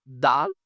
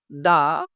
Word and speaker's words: the: প এর উচ্চারণ হলো তার মানে এটা কনসোনেন্টের উচ্চারণ হয়েছে সো দ্যা পেন হবে আচ্ছা দা দি অরে এখানে অতি ভাওয়েলের উচ্চারণ হলো তাই